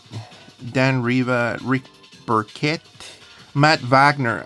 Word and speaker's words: Wagner: Reva, Rick Burquette, Matt Vagner. Okay, so we got Wagner, whatever you want to, whatever. Vagner pronounces it in German, American German.